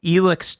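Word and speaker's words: Elex: It's funny that you bring it up as a Eurojank game because Bob and I just finished playing Elix 2, which is how they pronounce it, on stream.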